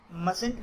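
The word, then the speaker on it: mustn't: मस्ट नॉट को मस्टंट पढ़ते हैं, और मस्ट का जो टी है पहला, यानी जो शुरू में मस्ट में आता है, वो साइलेंट होता है।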